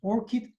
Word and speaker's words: ORCID: So you probably know ORCID Flower, and to memorize this abbreviation, ORCID, it's pronounced ORCID, you need to register with ORCID platform.